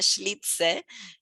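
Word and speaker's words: Schlitzie: vestidito, pero que es un señor, que es Schlitze, ahí me lo anoté para pronunciarlo bien, Schlitze, que efectivamente era varón, pero vestido de mujer,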